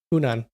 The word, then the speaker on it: Hunan: How do you pronounce that? Hunan.